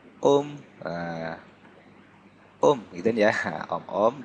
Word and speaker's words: Ohm: Ini dibacanya Om.